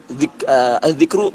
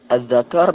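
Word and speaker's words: ذكر: Nanti dia beli buku, dia baca Adzakar Miftahul Farji. Nah, padahal dari segi tulisan sama. Segi tulisan sama. Tapi dari segi makna jauh.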